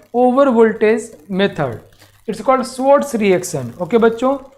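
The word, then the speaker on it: Swarts: बोलते हैं हम लोग स्वर्ट्स स्वर्ट्स reaction स्वर्ट्स reaction it इट इज फ स्वर्ट्स reaction S डब् ए आर टी एस but pronounce as स्वर्ट्स reaction okay by using this reaction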